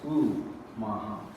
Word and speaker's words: Omaha: He's like, they pronounce it with a U, not an O. It's U-Maha.